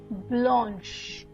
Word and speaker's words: blanche: The CH is pronounced as sh in French. Sh, okay. Unlike in English, it's pronounced as sh. Fine. So let's look at an example. This one is pronounced as blanche.